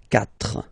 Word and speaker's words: quatre: When we get this q letter and then a vowel after, then we will have to put this u. Okay, so you get this q, u, a, but then the sound that you will pronounce is k.